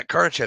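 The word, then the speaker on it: Kardashev: like Christmas is Carnage I was trying to pronounce a Russian name that I couldn't remember or polish or something but yeah current Chef scale look it up it's a really interesting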